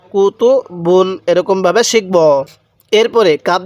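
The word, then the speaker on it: كُتُبٌ: কুতুব বুন কুতুব বুন এগুলোর মধ্যে কোন টান হবে না খেয়াল রাখবেন বা এর উপর যে দুই পেশ দেখতেছেন এই দুই পেশকে তানবিন বলে আর তানবিনের উচ্চারণ বাংলায় দোনান্না উচ্চারণ হয় তাহলে কুতুবুন কুতুবুন এরকম ভাবে শিখবো এরপরে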